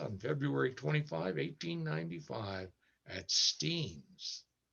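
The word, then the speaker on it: Steins: grant joe resurfaced on february 25 1895 at steen's steams it's pronounced steens it was named for enoch steen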